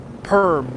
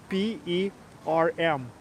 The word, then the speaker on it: Perm: it's only 4 letters, P, E, R, M. And I guess in English manner it's pronounced Perm. In Russian it's Perm. And in Perm they pronounce Perm.